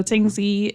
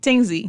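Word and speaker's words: Tingsea: sbdc sure so I can jump in so Ting Z is the name of our platform Ting spell that for us t i n g s e a okay so not the Y mhm oh tingy oh you know you like Tings so yeah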